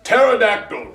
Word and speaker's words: pterodactyl: with a p and pterodactyl starts with a T the p is silent why would they do